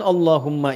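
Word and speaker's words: اللهم: Maka adabnya ketika diucapkan Allahumma itu jangan meninggi.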